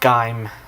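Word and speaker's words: Gaim: also watching G during the time again it's pronounced G not guy well this the pronouncing is guu but it's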